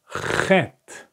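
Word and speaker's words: חית: This is exactly the pronunciation of chet. You listen? Like ha.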